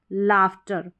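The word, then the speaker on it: laughter: अब जैसे अगर आप यह लाफ्टर की स्पेलिंग पढ़ेंगे अगर रूल नहीं पता होगा तो यहां पर लार करके पढ़ देंगे।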